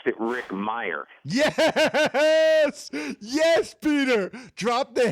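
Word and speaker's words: Mirer: I always pronounced it Rick Meyer.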